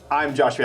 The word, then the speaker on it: IMJoshV: For me, it's IMJoshV. I was just saying how I'll try and spell it out for people, and I'll say I am JoshV, but it still sounds like I am.